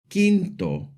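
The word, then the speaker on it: quinto: The Q and the U together make a hard K sound. In Spanish, they are always followed by an E or an I. And the U is always silent. Like in the words queso kinto to when a g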